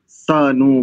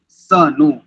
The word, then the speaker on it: सनु: जो पद है सनु इसमें हम प्रायः इसके उच्चारण में त्रुटि करते हैं इसको हम बहुत दीर्घ कर जो प्रथम सा है इसको हम बहुत दीर्घ करते हैं सान बंधुर जनीता सा विधाता ऐसा प्राय उच्चारण होता सभी का ऐसा ही होता है एक वेद पाठी को छोड़ कर के चाहे जो भी होन सबका यही उच्चारण है इसको ठीक कर लीजिए सबसे पहले सनु क्योंकि